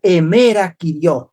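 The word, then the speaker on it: ἡμέρα: El día del Señor en griego se pronuncia emera. Sí, emerí que significa día del Señor. En la séptinta, la palabra emera significa día, pero día, no un día de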